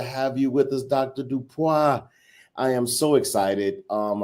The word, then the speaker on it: DuPois: Dupa.